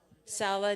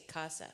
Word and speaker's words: Sala: Sala de Oracion. I always want to say casa, but it's Sala.